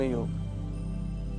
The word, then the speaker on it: योग: में बात करते हैं मूलत उसका उच्चारण योग होना चाहिए योगा य उच्चारण गलत है कृपया आप ध्यान में रखिएगा कहीं य मत कगा कि योगा योगा कर कहिए योग कहे क्योंकि योग शब्द में